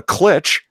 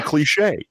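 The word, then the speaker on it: cliché: European and it's like you don't call it a clich you call a cliche you don't say 'fuck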